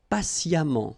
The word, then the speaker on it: patiemment: Patient, and then patiemment. So as I told you, even if you write it EMMENT, phonetically it goes like amant, patiemment.